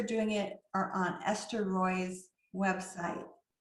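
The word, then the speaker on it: Roi: The directions for doing it are on Esther Roy's website. That's Roy is spelled R-O-I, and she has excellent directions on how to do that.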